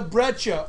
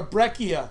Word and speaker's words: breccia: We call it a breccia or a breccia. Depends on your pronunciation. I've always called it a breccia. I know a lot of people call them breccias.